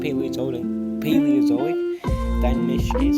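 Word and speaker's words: Paleozoic Dinomischus: One Paleozoic Dynamicious.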